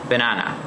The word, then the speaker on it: banana: the speaker for example in the word banana the stress is on the second syllable banana in the word orange